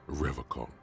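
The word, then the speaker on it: Revachol: to stay strong for rev call Revol he pronounces Revol with a hard K unlike other people uhhuh serious question time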